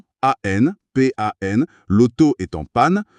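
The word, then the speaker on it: pàn: l'auto est en panne, le dernier mot pan s'écrit P-A-N, avec l'accent grave sur le A. Le cerveau voit l'accent, il ne fusionne pas. Il lit A, puis il lit N. Ça donne panne.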